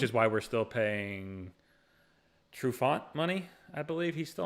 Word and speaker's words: Trufant: pronounce Trufont's last name all fancy. Because it's not a French name. Yeah, it's not French. It's Trufant.